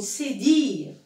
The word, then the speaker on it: cédille: Ça s'appelle une cédille.